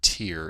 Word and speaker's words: tier: And again, the word tier is spelled T-I-E-R. It's not like teardrop, it's tier.